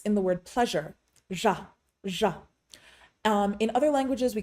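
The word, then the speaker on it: ར: There are 2 primary ways to pronounce the Tibetan letter ja, which is often transliterated into English as the letter R. The first is primarily used in central dialect and Shichak dialects, which is ja, ja.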